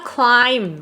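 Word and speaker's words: climb: ออก เสียง อ่า อย่าง เช่น คำ ว่า clim ที่ แปล ว่า ปีน เนี่ย หรือ คำ ว่า Thumb ที่ แปล ว่า นิ้ว โป้ง หรือ ว่า lam แกะ แล้ว ก็ โม หวี พวก นี้ เนี่ย จะ เป็น silent be ก็ คือ ี ด้าน ท้าย เนี่ย ไม่ ออก เสียง โอเคเนาะ อ่ะ อัน นี้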